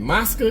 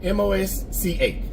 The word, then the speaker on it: Mosca: Mosca, Colorado? M-O-S-C-A.